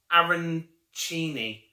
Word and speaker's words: arancini: And user EJ3ZJ2CIAL has put, hi Charlie, it's pronounced Arancini.